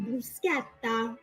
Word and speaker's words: bruschetta: Which is worse, breaking spaghetti in half or calling bruschetta bruschetta? No, it's bruschetta. Bruschetta. Not bruschetta. Bruschetta.